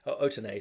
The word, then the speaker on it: Otene: Otene, sorry. I should pronounce it correctly.